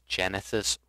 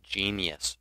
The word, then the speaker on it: Genesis: name is Genesis writer I don't know how many people I'm going to run into online who pronounce it as genius writer you can call me a genius if you want to but that's not how it spelled get it right that